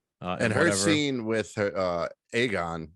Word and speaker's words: Aegon: And her scene with her Aegon, right? That's how you say it. Yeah, Aegon.